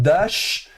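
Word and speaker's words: דָּשׁ: Ici, vous avez la lettre shin, vous vous souvenez, quand le point est au-dessus à droite, c'est sh, prononcé comme dans Chirac. Donc dash.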